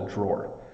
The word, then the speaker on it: drawer: called a drawer um it's easy to want to pronounce this a different way um because it has the word draw in it but in this situation each of these the thing that you pull in and out uh is called a drawer um so it's drawer you almost it looks like two syllables but it's really almost sounds like one like I put my socks